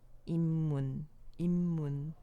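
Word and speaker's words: 입문: ip문, já dá pra imaginar o que vai acontecer? 임문, né? 임문, mesma coisa. 임문, com dois miams, tá? É assim que vai ficar a pronúncia.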